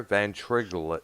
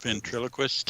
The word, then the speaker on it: ventriloquist: i said did i say that right there van triglet ventriloquist yes thank you i have been in my pronunciation it's like at the times there he